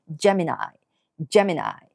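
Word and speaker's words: Gemini: でしますが最後の愛は愛っていう風に二重母音で発音するのが一般的ですジャミナー次蟹座キャンサーです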